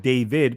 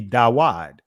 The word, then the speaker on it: David: Instead of David, because there was no V sounds in ancient Hebrew, it would be Dawad.